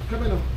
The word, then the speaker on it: Kemenuh: How do you pronounce it? Is it Kemenuh? Kemenuh.